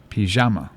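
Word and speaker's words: פיג'מה: I don't know but they put the emphasis on the middle syllable pajama oh nice pajama is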